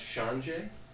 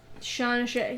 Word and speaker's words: Shan-jahe: I believe it's pronounced Shan-jahe. Shan-jahe, yes, that's right.